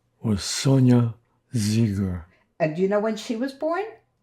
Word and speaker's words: Zeiger: Can you say your name and spell it, please? My name is Zeger.